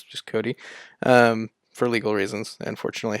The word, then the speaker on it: Kodi: It's actually referred to as Kodi now. Kodi, though, I don't think it's pronounced KODI. It's just Cody.